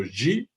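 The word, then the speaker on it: 机: Un qui se prononce Wei, qui veut dire le danger, un deuxième qui se prononce Ji, qui s'appelle l'opportunité.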